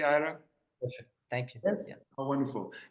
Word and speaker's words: Ira: Am I am I pronouncing your name correctly? Ira.